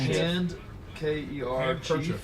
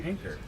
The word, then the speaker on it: handkerchief: Yeah, but a lot of people like these two didn't know there's a D. Do you pronounce it? Hanker. Handkerchief.